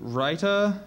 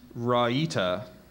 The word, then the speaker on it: raita: dishes for contrasting flavor are there any other pronunciations so I have raita and Rita rder r a i t a writer that's